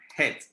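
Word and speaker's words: חטא: Se pronuncia het o hat. Algunos la pronuncian hat, pero no tiene A, tiene es E.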